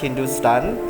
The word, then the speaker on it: Hindustan: Thapa states that the word Hindu is found as Hepta-Hindu in Avesta, African to Rigvedic Sapta Sindhu, while HNTSTN, pronounced Hindustan, is found in Sasanian inscription from the 3rd century CE, both of which refer to the parts of northwestern South Asia.